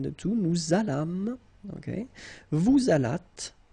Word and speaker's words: vous allâtes: Vous allâtes, same thing, la liaison. So final S here and final S here is not pronounced.